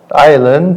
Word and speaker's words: island: Island, ada. Bakın Island falan değil, tamam mı? Hani bu İngilizce'de sessiz harfler vardı ya, silent letters. Island'da da aynı.